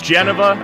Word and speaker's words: Geneva: I bear my soul here through this song, despite pronouncing Geneva wrong. It's Geneva. I will not be told otherwise.